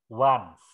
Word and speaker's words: once: Ini, once ini juga dibaca once. Ya. Bukan ons.